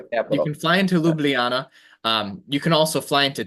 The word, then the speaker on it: Ljubljana: Ljubljana. Yeah. That's it. Ljubljana, Ljubljana. Slovenia. So capital. you can fly into Ljubljana.